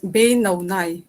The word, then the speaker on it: Binoy: you pronounce your name it's uh pronounced as bei no yeah that's very nice